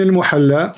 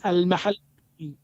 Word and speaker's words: al-Mahalli: Jalaluddin al-Muhalla wa Jalaluddin al-Suyuti. Wrong. It is not Al-Muhalla. What it is? You don't understand. What it is? It is Al-Mahalli.